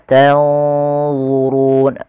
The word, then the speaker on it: تنظرون: maka dia di sini tanzurun. Kemudian pada lafal Allah harus hati-hati, jangan sampai dibaca zurun, tanzurun, enggak, tapi dia tanzurun, zu tebal, zu, maka zurun.